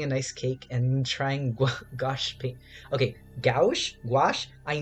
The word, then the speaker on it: gouache: I pronounce it gouache, but my teacher says gouache.